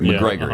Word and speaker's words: Macgregor: Mike McGregor McGregor I thought it was McGregor McGregor it is okay Douglas I thought he was